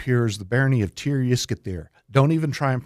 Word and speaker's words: Tir-Yiskithir: Don't even try and pronounce it, because it's the closest we get to it is tell people just to say Triscuits and beer. But it's I was going to say that name again. Tir-Yiskithir.